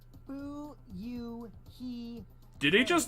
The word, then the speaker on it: Fuyuhiko: what are you doing my first name is pronounced who you he did he just